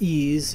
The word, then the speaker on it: EES: EES which is pronounced ease is an acronym for Engineering Equation Solver in a previous video we discussed ease functions that you can